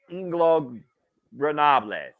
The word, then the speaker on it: Ingobernables: Because I feel like I'm always mispronouncing it on the air. La Faction. Ingobernables. Off! Ingobernables.